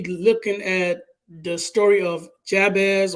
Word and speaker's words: Jabez: at the story of Jabez or yabez you know many people pronounce it I like to pronounce the J some people don't like